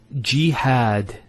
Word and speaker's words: Jihad: followed by the Edith next word is Jihad so we have here G that's the first syllable and then had Jihad so you notice here we have a feta on the her followed by the alif and that gives the elongation of the a sound next word Ibrahim so